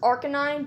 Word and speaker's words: Arcanine: Arcanine? It's technically pronounced Arcanine, but...